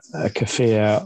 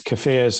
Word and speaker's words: kefir: Well, I always want to say kefir. Americans generally say kefir, and I remember Kiefer Sutherland is the only one. But I don't think that's right. I think we might say it, but I think we're saying it wrong.